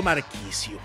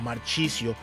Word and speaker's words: Marchisio: Hablamos de la llegada a Cruz Azul del italiano histórico de la Juventus, Claudio Marchisio, o Marchisio, como le quieras pronunciar, depende de tu italiano.